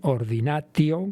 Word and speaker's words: ordinatio: llamado ordenación, en latín ordinatio, que solemos pronunciar esa pronunciación italiana del latín muchas veces convirtiendo la T en C, ¿no?